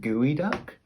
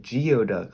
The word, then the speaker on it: geoduck: thing called gooey duck which is spelled like geoduck like geoduck but it's gooey duck it's very weird the way that it said so make sure that you say gooey duck and said geoduck if you go to